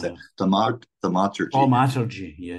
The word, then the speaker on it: Thaumaturgy: I should have asked you beforehand how to pronounce that. Thaumaturgy. Thaumaturgy, yeah. It's Thaumaturgy.